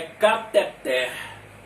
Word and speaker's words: cateter: não tem acento e não é diferente com esta palavra aqui que todo mundo fala Inclusive eu também falo né mas o nome na verdade é cateter você pode quando você